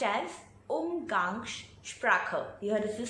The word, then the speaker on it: Umgangssprache: So it's pronounced as Umgangssprache.